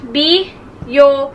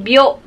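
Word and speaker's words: びょう: So, instead na biyo, magiging byo.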